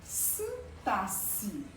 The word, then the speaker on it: sintaxe: Então, esse relacionamento, o que liga, relacionamento O relacionamento está dentro da sintaxe. Pronuncia assim mesmo, viu, gente? Sintaxe. Esse X aí, ele tem som de 2 S.